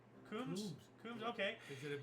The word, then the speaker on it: Coombs: Coombs? Coombs, okay. Is it a B on the end? Coombs? Yeah. Like comb, but another ooh, began a 5,193-mile roller skate from Los Angeles to New York City.